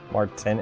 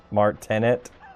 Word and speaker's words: Martinet: Martin, how do you say his name?